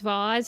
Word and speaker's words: vase: I'm pretty sure that vase versus vase is is a dialect thing. I'm pretty sure you say vase if like in more British English.